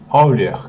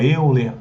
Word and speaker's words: Euler: número de Euler né erer que fala que ele é alemão tá eh então que a gente tem gente fala eer erer que é alemão a pronúncia alemão e ele é um